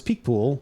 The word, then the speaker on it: Picpoul: too oh maybe put there somewhere uh oh pronounce Peak poool which literally stings the lip liter L translates